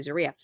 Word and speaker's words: Zeruiah: I'm never going to be able to say it right. Zeruiah. Zeruiah. Zeruiah. I know. Yeah. I'm so used to saying it the other way, but now I've trained myself to say Zeruiah.